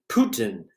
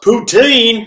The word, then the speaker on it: poutine: influenced by French cuisine my name is pronounced Putin in French regions of Quebec are pronounced poutine in other areas yeah I would walk